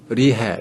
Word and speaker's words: 이해: 음가가 없는 거죠 그 이해 같은 거 이해 같은 건데 어 북한에서는 이거를 리해 그러거든요 리해 그래서 리를 발음으로 합니다 리해 그다음에 요금이 얼마다